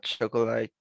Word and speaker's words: chocolate: I am making a chocolate cake for my brother birthday. Birthday. Right. Chocolate. Remember that here we omit one The pronunciation is chocolate, como choclito sin al final.